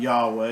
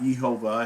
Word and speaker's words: Yahweh: It's not Yahweh. It's not Yehovah. It hasn't been changed.